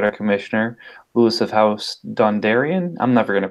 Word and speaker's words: Dondarrion: we've also got our Commissioner Lewis of House Dondarrion I'm never gonna pronounce that right yeah it's Dondarrion barometer I'm ready yeah I don't know I